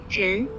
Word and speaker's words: 人: So this Chinese character is pronounced as 人.